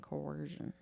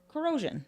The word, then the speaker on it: corrosion: generally resistant to rust and coercion. Coercion? Coercion. Coercion? How do you say that word? Corrosion. Corrosion. But I was like coercion.